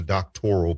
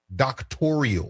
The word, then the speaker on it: doctoral: And if you listen carefully the word doctoral in this conversation becomes a sticking point because she can't even pronounce the word. She pronounces it doctorial. I paid for a doctorial program.